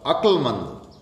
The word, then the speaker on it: अकलमंद: अकलमंद, अकलमंद में कै पूरा नहीं होगा, कै आधा होगा, अकलमंद।